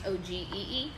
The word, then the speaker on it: ogee: And that's not OG, it's OGEE. Yeah, it's not like OG like OG. You know what I mean? Like from the hood.